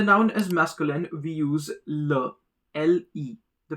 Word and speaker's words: le: When the noun is masculine, we use le, L-E. The pronunciation is le.